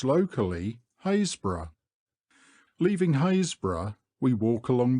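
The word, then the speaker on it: Happisburgh: and by the Trinity board hbro it is pronounced locally hbra leaving hbra we walk along the beach Southward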